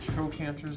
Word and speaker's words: trochanter: There are 2 big trochanters, they're called. It's a hard cut sound, trochanter, because it's spelled like CH.